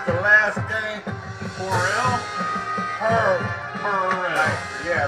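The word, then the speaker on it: Herrell: tired of you saying my grandson's name wrong. How do you say it? Harrell. All right. We can do that. I can do that. Please, it's the last game. Horrell? Horrell.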